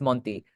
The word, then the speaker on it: Monty: name right yeah it's it's pronounced with a Spanish accent but you were close enough um it's Monty um okay but uh yeah